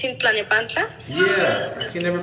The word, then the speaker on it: Tlalnepantla: Talapazan? You know how to say it. Tlalnepantla. Huh? It's in Tlalnepantla? Yeah, I can never pronounce that word. Talapanta.